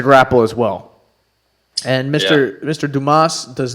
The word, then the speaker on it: Dumas: Mr. Dumas, dumbass. No, Dumas. That's how you say it.